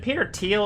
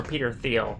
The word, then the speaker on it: Thiel: Peter teal is it Peter teal or Peter Thiel I think it's teals to you it's teal yeah it's pretty it's pronounced teal it's spelled thi L